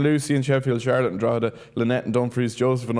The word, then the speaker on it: Drogheda: In fairness to Martin, it probably should be how it's pronounced. It should be Drogheda. But it's not. It's Drogheda.